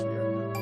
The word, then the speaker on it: Riona: I think it's pronounced Riona. I mean, at one point I pronounced it as Rihanna as well, but you know what? pretty sure it's Riona.